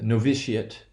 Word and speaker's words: novitiate: verb right like a novitiate right we don't say officiate we say novitiate and in both cases a te will always assign stress on the ante penultimate syllable okay so obviously since